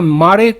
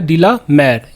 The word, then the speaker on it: de la Mare: Walter डी ला मेयर, यहाँ मारे लोग पढ़ लेते हैं लेकिन मारे नहीं होता है, वाल्टर डी ला मेयर।